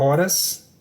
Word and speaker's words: horas: Horas, havia e chuva. A palavra horas, mesma coisa, o H é mudo, não produz fonema nenhum, então já não é a B também.